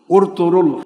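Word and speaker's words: Ertuğrul: This Ottoman Caliphate, which ended after the 1924 World War, its founder, Ertugrul, It is written as Ertugrul Ertugrul, but in the Turkish language they do not pronounced the letter ‘g’, it is Erturul.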